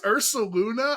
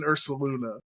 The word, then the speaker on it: Ursaluna: Like he is all in on that U in Ursaluna.